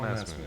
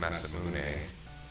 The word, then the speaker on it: Masamune: I know it's Masamune, probably with less vowel sounds.